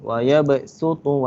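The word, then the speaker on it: ويبصط: Tapi cara bacaan dia kena sebut huruf sin. Dia tulis huruf sad tapi baca huruf sin. Wa ya basutu wa ilaihi turja'un.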